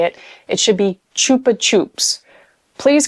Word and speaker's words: Chupa Chups: I was shocked to find out that a lot of people call them Chupa Chups, like with a B. And I actually had a conversation when I was like, no, it's a P.